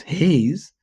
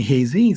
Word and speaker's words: Hayes: everybody saying their name my name is Hayes but some people call me Haz so I have two different syllables hay BL of space z Trisha say your name